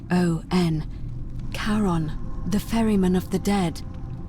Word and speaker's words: Charon: Only you're pronouncing... It was C-H-A-R-O-N. Charon, the ferryman of the dead.